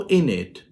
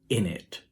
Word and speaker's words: innit: in this one so instead of isn't it it became is in it so the white tip is dropped so it became isn't it then it developed into this pronunciation it is not the test sound only but now it is the Zef sound as well so it became what we know as in it nice now what's the